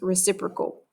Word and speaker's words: reciprocal: time don't say it correctly but this is pronounced reciprocal okay so reciprocal is when a fraction is